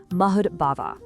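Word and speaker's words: mad-bhāvaḥ: The core of his entire final lesson is wrapped up in this one Sanskrit term, mud bhavaha. That's pronounced mahud bhava.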